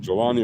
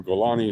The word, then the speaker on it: Jolani: Pronounces it Jolani or Golani, it doesn't matter. I've heard it pronounced both ways.